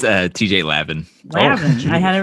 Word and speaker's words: Lavin: I should have looked up how you pronounce it. Probably Levine. It's TJ Lavin. Lavin.